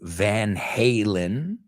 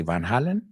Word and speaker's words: Van Halen: listening to the group you pronounce it a little bit differently in Spanish okay we say Van Halen and you say Van Halen I think you say